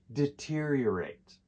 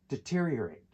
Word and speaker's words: deteriorate: Native speakers don't always pronounce every part clearly. So the correct pronunciation when we put it together is deteriorate.